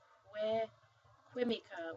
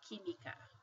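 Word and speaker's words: química: we don't pronounce it qu qu we say kimika like this that Q sounds like a k so he me okay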